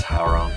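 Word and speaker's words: Hwoarang: and I looked at, excuse my pronunciation, Howrong, or whatever his name is. Hooray. Howrong. It's Howrong.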